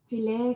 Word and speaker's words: filet: I think the Frenchy pronunciation, which is the fancy one, is filet. There's a T at the end.